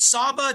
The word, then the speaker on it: Saba: So Emily, you are the chief marketing officer with is it Saba? Am I pronouncing it correctly?